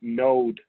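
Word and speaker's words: Knowde: And actually a group, it's okay to bring them up, Node, is spelled K-N-O-W-D-E, advisory group, is a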